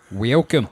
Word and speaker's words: Welkom: Welcome. That's spelled Welkom.